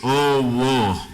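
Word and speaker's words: ⲟⲩⲟϩ: This is an epsilon. We said epsilon takes from the letter before it. So this will also be an O. So it's an O, a third O. This is a troubling word, بس بنشوفها كتير في الألحان, so it's good to know it. And this last one, we said, is an H. So it's O. Is it O? No, it's O-wo.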